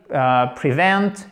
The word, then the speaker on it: prevent: To prevent, ok, accent tonique. Oh là là là là, catastrophique. Ici, c'est un i court, mais l'accent tonique est bien là.